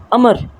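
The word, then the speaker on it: عمرو: क्या कि अब इन अमर अमर है अमर इन भाव आगे साइलेंट होता है इसको अमर ही पड़ते उपलब्धता हुकूमत अभिनव अमृतं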